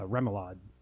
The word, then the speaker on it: remoulade: and a rum uh remoulade how do you pronounce that remoulade remoulade what is yours well actually